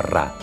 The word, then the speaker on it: Ra: Champollion sabía que en copto el nombre del sol en el antiguo Egipto se pronunciaba Ra.